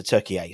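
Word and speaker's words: Türkiye: Turkey. That's how you pronounce it. Not called Turkey anymore. Turkey to differentiate themselves from the bird and the English expression of what a turkey is, apparently. So Turkey A.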